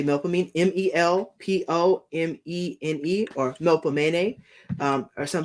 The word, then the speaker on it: Melpomene: This symbol, you know, it is called the it is the sign of Melpomene.